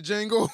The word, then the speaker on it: Django: You ever seen the Django? The D is silent.